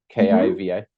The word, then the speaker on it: Kiva: And you selected, forgive me if I mispronounce it, Kiva, is that right? Kiva? Yeah. That's right.